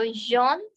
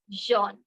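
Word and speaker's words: jaune: pronounced as it is Jean joh okay we don't pronounce the S letter at end and also for the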